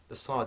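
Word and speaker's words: ص: in this series, the sad, okay, now this is the emphatic version of sin. Okay, the emphatic version of sin. So whereas sin is quite light, we have sad, which is heavier, and the way that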